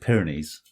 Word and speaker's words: Pyrenees: They pronounce it Pyrenees. A bit like us, really.